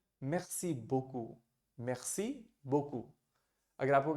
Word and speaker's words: merci: The pronunciation is merci. And if you have to say thank you very much, you would say merci beaucoup.